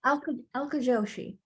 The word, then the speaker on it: Alka Joshi: And is it Alka Joshi? Is that her name? How you pronounce it? Alka Joshi.